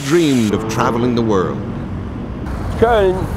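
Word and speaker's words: Köln: Koln, and it's pronounced in the English Cologne, probably one of the oldest city in Germany.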